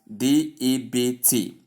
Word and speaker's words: debt: When you spell it, we have it as D-E-B-T. B is included in the spelling, but it is completely removed in the pronunciation.